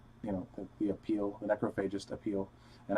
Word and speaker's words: Necrophagist: And I say that band name that way because that's how the leader, Muhammad, said it, the band Necrophagist. So that's not how I would have originally pronounced it, but that doesn't matter